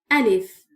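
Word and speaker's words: ألف: Remember I refer to the sound of al if as double A.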